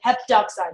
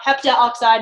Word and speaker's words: heptoxide: Pentagermanium heptoxide, right? We dropped the A. It's not heptaoxide, it's just heptoxide.